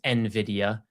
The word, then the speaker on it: Nvidia: So this Wednesday, Nvidia, and I know it's pronounced Nvidia, I just don't like saying it that way. And my main accent likes to put you's in things.